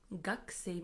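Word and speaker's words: 学生: Gakusei means student. Although we write it as gakusei, we pronounce it as gakusei, gakusei, as if the u from ku disappears.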